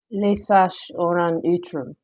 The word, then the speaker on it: Lesash Òran Utrum: Lesash Òran Utrum is how it's pronounced.